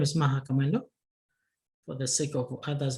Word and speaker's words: Maha Kamwendo: uh my name is maha kamelo for the sake of others maybe in terms of a pronunciation let's see maha commando another name that's my